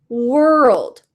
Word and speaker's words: world: It kind of sounds like were. They were hungry. They were hungry. World, words, work, worms. We're saying were plus another sound at the end. LD, D, M, K. Work, word, world. So because we have an L, it sounds like maybe it's different, but that first part is the same.